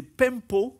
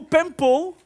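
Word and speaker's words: πέμπω: mal, mais c'est « pempo », on dirait de l'italien un peu, hein?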